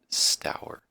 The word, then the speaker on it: Stour: I looked up the pronunciation that's how you pronounce that sour times on the great Stour at bad so yeah we'll just dive right